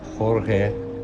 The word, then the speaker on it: Jorge: I am Jorge but pronounced as George no ory because it's Spanish for George okay I am a